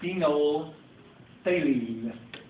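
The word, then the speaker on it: phenolphthalein: I use the indicator that middle pH is totally silent silence I meant to say that's pronounced phenol phine and phenol phine is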